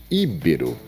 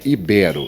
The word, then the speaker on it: ibero: Íbero ou seria ibero? Como você pronuncia? A palavra está errada, exatamente, é falso. A palavra correta seria ibero.